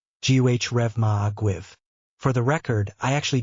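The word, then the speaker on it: Go raibh maith agaibh: When you are thanking more than one person, it's pronounced Gh Reva Aguiv.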